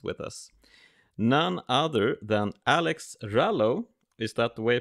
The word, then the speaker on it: Alex Rallo: a fantastic guest with us none other than alex rallo is that the way i pronounce it it is yeah hello alex hey